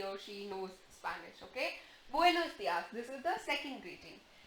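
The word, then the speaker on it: buenos días: So you remember the sound of U is U, the sound of E is A. So this is buenos dias.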